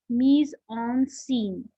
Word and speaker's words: mise en scène: Mise en scène is a French term. In English it's pronounced as mise en scene.